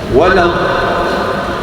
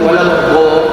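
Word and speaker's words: و: maka diucapkan du W tahan sedikit supaya berkumul nampak gembung sikit wau bukan wad Ha kan wad w w d ada bunyinya sedikit istiqalah du sedikit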